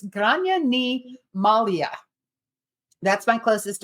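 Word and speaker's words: Gráinne: So it is spelled, it does start with a GR. It's pronounced Grainne, It's Grainne. I looked it up.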